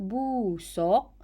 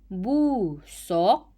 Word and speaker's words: busuk: dengan tali supaya bau busuk tinja itu berkurangan ayat yang kedua terdapat kesalahan ejaan yaitu busok busok Hai sebutan yang betul adalah busuk sebutan yang betul adalah